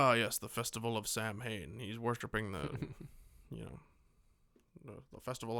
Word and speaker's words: Samhain: Which isn't pronounced Samhain like it's spelled. Yeah, they get that right in this one. They call it Samhain in this one.